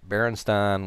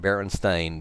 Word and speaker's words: Berenstain: it's not a case of well we thought Berenstein was you know it the books have always said Berenstain i'm going to pronounce it Berenstain because you know as AI n so it's